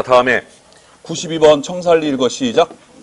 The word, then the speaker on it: 청산리: 자, 다음에 92번 청살리 읽어 시작. 표준어를 쓰고 있는 우리 충청북도 청주의 학생들 중에 청산리라고 읽는 학생이 있네. 따라해 청살리.